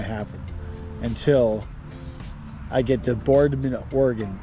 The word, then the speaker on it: Boardman: I do that for like every hour and a half until I get to Boardman, Oregon, spelled B O A R D M A N.